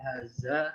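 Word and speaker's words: هذا: Haza emang penulisannya begini. Oh, ada alif mati ya? Ya, lewati. Panjang haza gitu bacanya.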